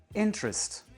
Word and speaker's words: interest: La première syllabe, in, est prononcée plus aigu que les deux autres. Interest. Et trust, deux syllabes complètement réduites. On n'entend pas ni t ni rest. Interest. Ce phénomène se nomme la réduction vocalique.